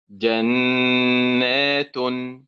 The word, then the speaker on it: جنات: جنات، أول الكلمة جنة فعل، صح؟ طيب وآخر الكلمة نات فعل. إذن النبر هو هو على حركة النون، وسبحان الله العجيب أننا عندما ننطق الكلمة من أولها نأتي بفعل جنة، وعندما نأتي ننطق الكلمة في آخرها نأتي بفعل، فنقول نات جنات هكذا.